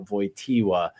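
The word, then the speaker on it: Wojtyła: as Caleb says that VOA is spelled with a W because it is a Polish name um it is as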